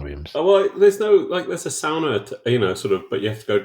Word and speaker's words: sauna: And ANARCHO squats, but you have to pronounce the word the Finnish way, which is sauna, because it's a Finnish word.